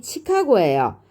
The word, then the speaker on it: 칡하고: 되겠습니다 4번 시카고를 보겠습니다 시카고는요 최종적인 발음이 칙하고요 자 여기서 축약이 먼저 일어나는게 아니라 어떻게 돼요 탈락이 먼저 일어나겠죠 조사하고가 붙었어요 탈락이 먼저 일어나서 ㄹ이 탈락하고 기억만 남게 됩니다 칡하고 이렇게 되죠 자 탈락이 일어나고 그